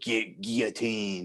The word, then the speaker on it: guillotine: If you're not French, then why are you saying it like in the French way, like without the L? The old guillotine. You know what I mean? Like it's how the French. That's technically, I guess, the French pronunciation.